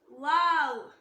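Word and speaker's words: واو: Next letter வாவ் வாவ். இந்த லெட்டரை pronounce பண்ணும்போது ரெண்டு லிப்பும் ஜாயின் ஆக கூடாது. வாவ் சொல்லி லிப்ஸை ஜாயின் பண்ணாம அப்படியே ஸ்டாப் பண்ணிக்கோங்க. இது சொல்லும்போது நம்ம வாய் ஓவல் ஷேப்ல சொல்லணும். வாவ் வாவ் வாவ்.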